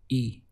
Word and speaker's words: y: The word for and in Spanish is y, written as a y, and the sound is simply e.